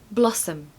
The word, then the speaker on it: blossom: love this word now a pronunciation tip for this one is there is a schwa on the end okay so it's Blossom um not Blossom Blossom now the first syllable has a very strong short o okay oh blah blossom